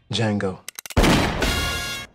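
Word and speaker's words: Django: Jango. The D is silent.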